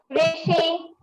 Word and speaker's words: ऋषि: इसमें क्या है कि री की मात्रा का उच्चारण भी रा की तरह होता है, जैसे ऋषि, ऋषि, रण, ऋण, ऋतु।